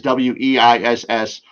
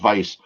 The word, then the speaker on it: Weiss: People would see it as Weiss. In German, the W is pronounced as a V, so it's Weiss.